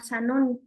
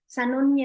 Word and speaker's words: Zanoni: ahí hay un libro que se llama Sanoni, que se escribe con Z y es un libro inspirado en la fraternidad Rosa Cruz, en particular, pues en la vida del maestro San Germán. Zanoni es un inmortal y